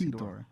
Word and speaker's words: Hedorah: How do you pronounce it? Ted? Hedron. Hedorah. It's Hedorah.